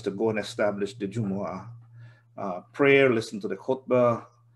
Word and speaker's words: Jumu'ah: to note because um most people they just shorten it and they they mispronounce it they say juma you know um it's